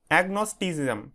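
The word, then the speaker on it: agnosticism: তোমাদের 16 নম্বর থেকে দেখো প্রথমে কি আছে এগনোস্টিসিজাম ঠিক আছে এটা উচ্চারণটা কিভাবে করবে দেখো এগনোস্টি সিজাম ঠিক আছে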